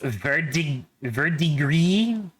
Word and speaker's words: verdigris: Apparently it's pronounced verdigris.